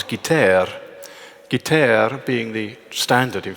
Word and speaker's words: guitare: short, that it requires an affected, Gallicized or Frenchified pronunciation of the word guitar as guitare.